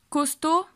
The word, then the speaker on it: costaud: Costaud, digo costaud, o sea, la O, la A y la U, una A y luego una U, se pronuncia como si fuera una U, se pronuncia U.